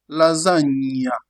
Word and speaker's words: lasagna: When you have G and N, it is pronounced ny. Think about the English word canyon to have that sound ny. G and N is pronounced ny, like in the word canyon. You have an example, you say what? Lasagna. Lasagna. You have the ny sound.